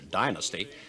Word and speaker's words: Dynasty: Dynasty, pronounced in America Dynasty, is now in its third season and has taken over from Dallas as the most popular of the weekly soaps.